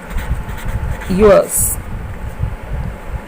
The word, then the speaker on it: yours: yours, य के लिए yours, आर साइलेंट, ज, yours, और इसमें वॉवल साउंड ओ, your।